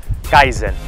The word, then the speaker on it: kaizen: inside, a Japanese word, Kaizen. I'm not sure if I'm spelling it correct. It's like K and Zen, it's spelled K-A-I-Z-E-N.